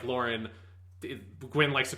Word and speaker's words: Loran: it um this is we're just calling him lauren um as the pronunciation not roland or lorann or whatever you know it's one of those